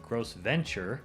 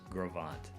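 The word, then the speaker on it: Gros Ventre: Gravant looks like Gross Venture, but it's pronounced Gravant.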